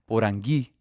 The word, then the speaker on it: Porangui: My name, you spell it with an accent on the I normally, Porangui.